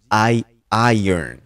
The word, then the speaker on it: iron: Écoutez bien la prononciation. Je dis iron.